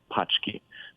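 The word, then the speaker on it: pączki: the a that translates to boxes which is pronounced pki so if you see that you're not buying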